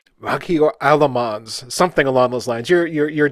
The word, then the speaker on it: Melchior Aelmans: So sorry, it's a Dutch name. So we would pronounce it as Melchior Aelmans, but you did pretty well.